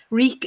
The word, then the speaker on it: Reek: yeah we creek leak reek it rhymes with bleak and Melissa blues oh